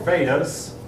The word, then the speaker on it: Veda: The Aryans wrote their script on 4 Vedas. Oops, it's spelled like it should be pronounced Vedas. But I've been told it should be pronounced Veda. It's like the Spanish E has an A sound.